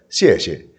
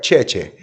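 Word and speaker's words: 谢谢: Es más, la única palabra que sabía era gracias y era xie. Pero mi pronunciación no era buena. Yo decía cheche.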